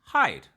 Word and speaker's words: HYDE: First off, Hyde Hyde D is pronounced Hyde uh for the artist.